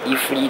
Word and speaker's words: iFly: iFly. Donc j'avais du mal à prononcer.